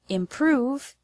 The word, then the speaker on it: improve: first syllable in the word improve has the stress on the second syllable prove in natural spoken English